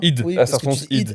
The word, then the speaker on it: id Software: id. Oui, Ça se prononce id. Ah, non, ça se prononce id. ok. Ça se prononce id. Moi aussi, je pensais que c'était ID ou id Software. C'est id Software.